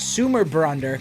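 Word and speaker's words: Sumarbrander: freyr in his sword sumer brunder or at least that's how i think it's pronounced and where it is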